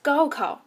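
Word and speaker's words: gaokao: the college entrance examination which is pronounced as goku in chinese just as the illustration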